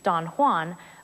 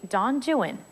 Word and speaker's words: Don Juan: come after this unlike the familiar Spanish pronunciation Don Juan Byron's poem is actually Don Jan we know that from the rhymes like the two verses at the very beginning of the poem that rhyme Doan with true one and new